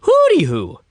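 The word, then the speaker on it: Hoody Hoo: a d okay so it's not hoot like an owl it's Hood like a hoodie like in the hood hoodie who okay but they pronounce it hoody who so according to Wikipedia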